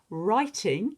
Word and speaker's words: writing: reading begins with our writing you can see it doesn't begin with R but it sounds like it does writing with our silent W on the front and arithmetic you can